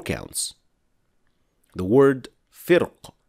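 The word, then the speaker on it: فرق: The word firq is pronounced with heavy ra in Al-Fil, but in Ash-Shatibiyyah it can be pronounced with light ra, firq, or with a heavy ra, firq.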